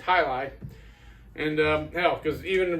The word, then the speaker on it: jai alai: So, and for those of you wondering, that's how you pronounce it. Hi. It's not Jai or Ji, you know, it's Hili.